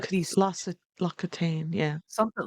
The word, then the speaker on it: L'Occitane: It's like La Coutaine. Is that how you say it? That French stuff. It's Yeah, like a uh-huh. um Loc it's like Loc these Lossa L'Occitane, yeah.